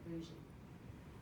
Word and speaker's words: bougie: airway exchange catheter and the bougie that's how you say it boujee so anesthesia if they